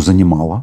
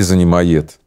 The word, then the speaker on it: занимает: Почему занимала? И занимает, наверняка, да? Легендарная артистка, да. Это кумир миллионов, фантастическая женщина, волшебная. Поэтому ты неправильно поставил ударение. Занимает. Да.